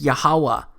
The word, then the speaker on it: Yahawah: But this YHWH, it's pronounced as YAHAWAH, because it turns out that the language was so simple back then that it vocalized each consonant with an ah sound without specifically marking that sound between consonants. So this YHWH, it's pronounced YAHAWAH.